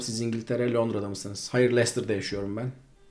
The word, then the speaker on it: Leicester: Hayır, Leicester'da yaşıyorum ben. Leicester diye okunuyor. Leicester diye yazılıyor.